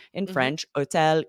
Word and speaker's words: hôtel: French, hôtel, histoire, but then in English, we pronounce that H.